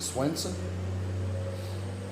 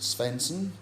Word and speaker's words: Svensson: We've always pronounced it Swenson. One of my brothers that's in a managerial role pronounces it Svensson for the simple reason it's spelled SV, not SW. But I've always known it as Swenson, and that's what I'll continue to do.